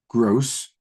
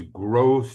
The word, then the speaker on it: Grosz: Anton Gross. Do you spell it? Is that how you pronounce it? Yeah. Yes, it is.